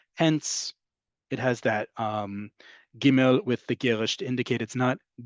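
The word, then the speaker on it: גימל: Giml is one I know very well and you're about to find out why. Giml is pronounced like the American English hard G like in get.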